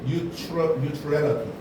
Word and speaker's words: neutrality: 아, 이건 n 이 가운데가 a가 아니라 new, neutrality.